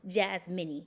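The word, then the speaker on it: Jazminne: whose name was Bill Jazz mini yes again j-a-z-m-i-n-n-e I have a mini in my name literally my mom was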